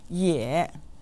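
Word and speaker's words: 也: vocabulary in today's lesson yeah meaning also or to is said with a third tone listen ye yeah yeah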